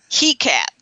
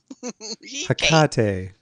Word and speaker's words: Hecate: He-cat. He-cat. Hecate. A he-cat. The goddess He-cat. He-cat. travelers. If you can't say it right, just really butcher it is what I say. He cat. Hecate. There you go.